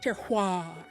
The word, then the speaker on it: terroir: Climate, soil, and terrain, the bougie word for the combination of these factors is terroir. And it looks a lot like terrier, but that's definitely not how you say it.